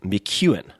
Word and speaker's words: McKeown: So, I want to share two chapters from that book with you read by the author Greg McKuan. Gregory McKuan on Twitter. Let me spell that for you.